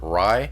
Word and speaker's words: Righ: No, it's an Italian name, Righ. Oh, okay. All right. Michelle and I were like, I don't know how to pronounce that. So there you go, Righ. Okay. And also too, Yeah, the H's are always silent.